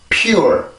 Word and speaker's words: pure: 이렇게 해서 발음이 되는데, 여기에 있는 P 발음이 강해지지가 않죠. 그죠? 원래 이 발음에서 만약에 그 P 발음만 있었다면 poor 이런 식으로 세게 소리를 내겠지만, 지금 여기 전이음인 J가 음절의 시작이란 말이에요. 그래서 P는 음절의 시작이 아니기 때문에 소리는 나되 아주 길고 강한 소리는 아니죠. 그래서 pure P 발음에서 빠르게 전이음인 J 발음으로 넘어가는데 강세를 받지 못하는 전이음이기 때문에 여기에선 소리가 길어지지가 않아요.